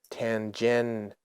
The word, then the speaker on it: tangential: Tangential. Shul. I'm looking at the screen here. TAN-GEN-SHUH space L.